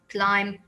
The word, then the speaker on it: climb: the other one is climb without the b the b is silent and this one is